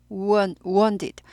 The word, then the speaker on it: wounded: wound 아니고 wounded 워운처럼 들려요. wounded 우어도 되고요.